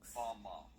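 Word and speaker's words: בָּמָה: The Hebrew word used in this text for the heights from which Satan fell is Strong's Hebrew word 1116, pronounced 1116. Bama.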